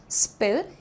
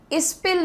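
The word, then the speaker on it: spill: स्पिल the beans, pronunciation तो आसान है इसका, स्पिल, इस्पिल नहीं होगा, इस्पिल नहीं, आपको स साउंड को पहले रखना है।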